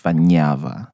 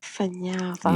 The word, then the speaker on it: Fanjava: So it's spelled Fanjava, but it's actually pronounced Fanyava. Fanyava.